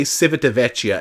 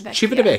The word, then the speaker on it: Civitavecchia: Because I used to say Civitavecchia, and that is not right. It's Civitavecchia.